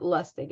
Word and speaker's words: Lustig: It's spelled Lustig. And he has a lot of great books out. Robert Lustig, Lustig.